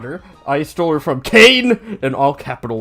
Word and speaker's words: Cain: I stole her from Cain in all capital letters. C-A-I-N, which rhymes with pain, and of course, I'm not supposed to like, oh, look at this, I got a ghost too.